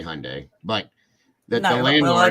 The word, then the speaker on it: Hyundai: I say Hyundai, but the landlord. Well, I just went over that because you don't pronounce the Y.